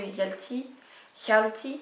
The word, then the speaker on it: Hjalti: Du coup on va suivre quand même en parallèle l'histoire de Maria, l'histoire de Hjalti, pardon, il y a un H aspiré, du coup il faut bien le prononcer.